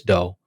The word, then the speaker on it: Do: of dough and that's spelled d-o um like do but it's pronounced dough by Chris doe um that's another one